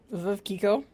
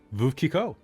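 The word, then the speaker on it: Veuve Clicquot: to pop into the chat and you can pronounce this. Veuve Kiko. Veuve Kiko.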